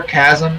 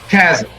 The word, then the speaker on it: Casm: I'm in Satan Destroyer, Chasm, and Blood Belt. And the correct pronunciation is cas chasm.